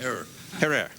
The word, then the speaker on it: Herer: Have I pronounced it correctly, Jack? Herrera.